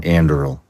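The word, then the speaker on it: Anduril: are involved in so many things how about andil did I pronounce that correctly yes so andil is the one that Palmer lucky who got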